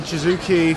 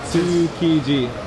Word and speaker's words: Tsukiji: now in Shizuoki Fish Market, the biggest... How is it pronounced? Shizuoki. Tsukiji. Tsukiji. Tsu. T-S-U. Tsukiji.